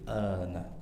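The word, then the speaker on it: آلْآنَ: Pada riwayat Imam Hafz alana ya tidak ada unsur tasydid di sana. Nah, a-nya kita baca enam harakat. Al an begitu cara bacanya, ya.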